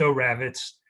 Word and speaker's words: Oravitz: Oravitz: yeah Thank you Karen and my name is pronounced oh rabbits i've been called a lot of other things, but oh is fine.